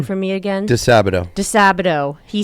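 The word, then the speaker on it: DiSabito: DeSabato, thank you.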